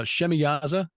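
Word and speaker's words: Shemihaza: Gods uh obviously the if I pronounce it correctly simiyaza some is that correct uh shemiyaza at least that's the shimiyaza yes okay and um obviously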